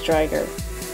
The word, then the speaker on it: Driger: I pronounce it Drigger because the English anime pronounced it as Drigger, but the Japanese pronounced it as Driger, which technically, if you look at it, only 1 G, so it should be pronounced as Driger.